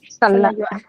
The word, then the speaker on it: salad: Salad. Salayua. Okay. Now this can be confusing to some of you with this one. What is this? Salad. Salad. Salad. Salad. So the stress is in the first syllable.